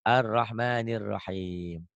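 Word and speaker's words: الرحمن الرحيم: Ar arrahmanir Rahim Arrahman laatnya boleh Arrahman Jangan yang ini yang dibacanya ini boleh juga dibacanya tapi Anya diganti o arrahmanirrahim tuh gitu ya tuh arrahmanirahim Arrahman ahim tuh a-nya ganti O ya dan ingat-ingat mana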